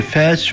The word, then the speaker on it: Fès: On peut prononcer Fès ou Fès, c'est pareil.